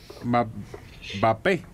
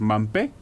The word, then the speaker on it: Mbappé: Mbappé, que es uno de los jugadores más caros. Mampé, dicen que se pronuncia Mampé, acá me gritan.